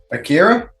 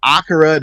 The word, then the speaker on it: Akira: I but yeah like I've heard people say akara then I heard them say Akira so that's why I started saying Acura because I thought I was saying it wrong when I was saying Akira but joining us today